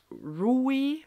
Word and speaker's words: Rui: Then she meets this Rukkaebi, aka the Pied Piper, aka Rui is how they said the name was supposed to be pronounced.